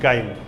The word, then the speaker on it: chyme: Spelling English में क्या होगा? CHYME, काइम।